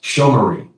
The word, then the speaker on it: Shomrim: It's pronounced Shomrim.